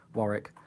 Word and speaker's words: Warwick: That sounds a cool name, Warwick. Warwick. Because that's how it looks like it's spelled, but it's actually pronounced Warwick.